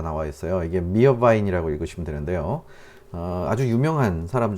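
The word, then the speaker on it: Meerwein: 이게 미어바인이라고 읽으시면 되는데요.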